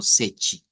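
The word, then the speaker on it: sete: para el siete sí deberíamos decir algo como sechi haciendo cuente y caso que el número siete en portugués se escribe s e t e y que la t se pronuncia como ch y el número 19 en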